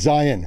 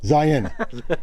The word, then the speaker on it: Zion: Oh, by the way, it's Zion. Zion. Zion. But I'll get comments down below if you mispronounce the name.